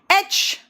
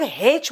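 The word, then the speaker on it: aitch: एच, कुछ लोग हेच बोलते हैं, पता नहीं ह क्यों निकालते हैं, वो गड़बड़ करते हैं। बेटा एच है, प्रोनाउंसिएशन में ठीक है।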